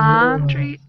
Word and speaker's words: laundry: Laundry Laurel. Okay. Then the letter A is pronounced like O in Laurel.